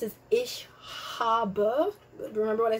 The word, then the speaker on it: ich: off letters so it's ich by the way c h sounds are going to be pronounced as ish so the the word for i is it's not ik is actually dutch so